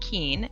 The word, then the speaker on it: Keane: for the invitation uh my name is keane it's pronounced keen and i'm on the